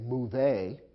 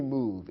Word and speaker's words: move: the verb to move it ends with a silent e although the e is there we don't pronounce it we don't say move a in english simply move it's as if the e